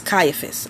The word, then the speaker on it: Caiaphas: writing this down see AI a PHAs that's Caiaphas okay so these were the four types of